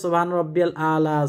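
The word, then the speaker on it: سبحان ربي الأعلى: অনেকে বলে সুবহান রাব্বিয়াল আ'লা, সুবহান রাব্বিয়াল আ'লা, এটা ভুল উচ্চারণ। উচ্চারণটি করতে হবে সুবহানা রাব্বিয়াল আ'লা, আ'লা, আ'লা বললেই হবে এক উচ্চারণ। আর যদি বলেন সুবহান রাব্বিয়াল আ'লা তাহলে অর্থটা হয়ে যাবে অন্যরকম।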